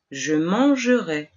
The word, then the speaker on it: mangerai: Conservaremos el infinitivo entero, manger, y le agregaremos ai, que pronunciaremos E abierta. Je mangerai.